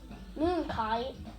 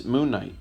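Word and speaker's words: Moon Knight: this cover real quick Moon kite this is moonight yeah I know it looks like it says kite but the K is silent it's Knight it's like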